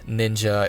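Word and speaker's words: 忍: Abridged explanation the word ninja is written as a combination of these two Kani letters pronounced as nin and either sha or ja the second Kani is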